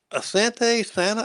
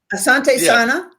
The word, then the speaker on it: asante sana: Now Asante Santa, is that how you pronounce that? Uh asante sana it's Thank you very much in Swuahili. And uh and will they make it to the roof of Africa?